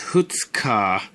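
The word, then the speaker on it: 二日: for me to write it's pronounced hoots car unlike the under unlike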